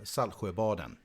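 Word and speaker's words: Saltsjöbaden: point there you go so how would you pronounce it uh sal borden okay so you see pretty much no tea in there no no salt you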